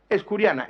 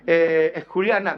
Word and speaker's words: escuriana: Escuriana de Mijas, con aspiración de la S, escuriana, ¿vale? Sí, porque hay que pronunciarlo, ahí lo tienen, escuriana. Con aspiración de la S implosiva en la primera sílaba y con un falso, pseudo prefijo es.